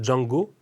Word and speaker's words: Zhang: D'ailleurs, quand on entend Django Music, puisque vous m'avez dit, ça ne se prononce pas, le Z et le H ne se prononcent pas Zhang, mais Djang.